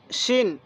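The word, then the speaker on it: شين: এরপরে সিন শিন, সিন শিন। দেখুন সিনের আওয়াজটা চিকন, শিনের আওয়াজটা মোটা।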